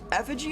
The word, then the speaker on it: effigy: Effigy is a great word in general. I like it because it sounds like it's spelled F-schwa-G, effigy, F-A-G, but it's not.